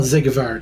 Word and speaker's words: Siegward: Sigward. Yeah, Zigward, yeah. Okay, that's gonna take me a little bit. Well, Zigvard, yeah, that's how it's pronounced.